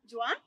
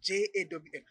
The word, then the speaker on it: Jawn: Jawn? Jawn. Jawn. J-A-W-N. How do you pronounce D-A-W-N?